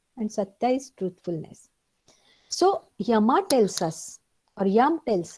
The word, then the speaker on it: yama: so what is the yama means the yama or we pronounce it as yama but it is yam so yum there are five yamas